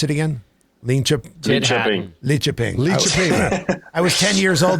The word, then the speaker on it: Lidköping: How do you pronounce it again? Lidköping.